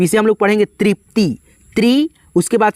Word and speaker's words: तृप्ति: उसके बाद से यहाँ पे त है, तो इसे हम लोग पढ़ेंगे तृप्ति, त्रि। उसके बाद से प का उच्चारण है तो यहाँ पे पी लिखेंगे।